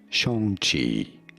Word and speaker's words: Shang-Chi: Yes, it is Shang, not Chang or Shang, but rather Shang, Shang Chi. Shang Chi. Pretty straightforward once you know, not Shang Chi, which everybody says, but Shang Chi.